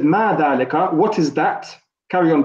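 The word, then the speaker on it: ذَٰلِكَ: All I know is that we say dhalika, and we pronounce it as if an alif is written. However, it's not written.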